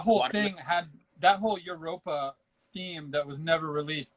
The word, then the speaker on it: Europa: What are your opinions on the prototype sets for Classic Castle and the canceled Europa theme? I believe is how you say that. Basically, a play on Europe. Yeah, it's Europa.